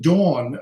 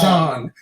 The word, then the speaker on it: Dawn: Dawn is pronounced Dawn, not Dawn. Don. Don is a man, like Don Amici or Don Jose. Dawn. Dawn. Dawn. Look at the mouth. Dawn. Dawn Hinton. Dawn, because there's a W there. Pronounce the W.